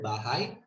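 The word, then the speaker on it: bahay: tagalog antipoly speakers uh words such as bahai the primary stress was usually at the last syllable of the word while the first syllable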